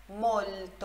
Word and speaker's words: molto: Olha só, molto. Olha a pronúncia, molto. Tem esse L antes do T. Você coloca a língua atrás dos seus dentes incisivos e aí vai conseguir pronunciar, ó.